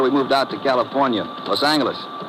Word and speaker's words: Los Angeles: Los Angeles. Correction. Los Angeles. Oh yeah. Soft G.